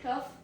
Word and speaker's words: tough: Tough. TOUGH is the spelling of tough. Pro tip is OUGH sounds like oof. Oof. Tough.